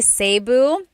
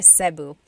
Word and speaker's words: Cebu: And I know some people say Sabu, but usually it's either Cu or Sebu.